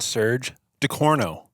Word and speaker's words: Serge Ducourneau: Just wrapped up day one of NRL Hunter, and we've got our good friend Serge Ducourneau. Is that right? Yes, that's pronounced correctly.